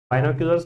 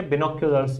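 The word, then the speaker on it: binoculars: बिनोक्यूलर्स, बाइनोक्यूलर्स भी बोलते हैं इसको, लेकिन इसका जो सही प्रोनाउंसिएशन है वो क्या, बिनोक्यूलर्स बोलो।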